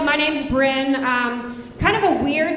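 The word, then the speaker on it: Bryn: And um, my name is spelled B R Y N. So, super often people would just read it really fast and be like, "Brian," and I'd be like, "Surprise, not a boy."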